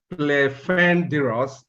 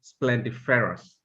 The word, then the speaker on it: splendiferous: was not completely correct you said play fenders instead of splendiferous well done you should